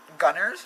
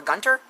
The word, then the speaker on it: Gunter: No, it's Gunthers. I'm a Gunther now. Or Gunter? Is it Gunter? I think it's Gunter. Like T's, not B's. Or N's. Like not Gunner.